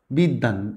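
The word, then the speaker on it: বিদ্বান: একটা এক্সেপশনাল আছে, সেটা হলো বিদ্যান। এখানে দয়ের এখানে বটা কি করছে, দটাকে ডাবল করে দিচ্ছে।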